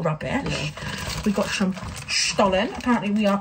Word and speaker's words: Stollen: We've got some Stollen. Apparently, we are pronouncing it correctly.